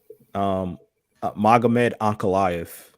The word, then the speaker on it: Magomed Ankalaev: Magomed Ankalaev.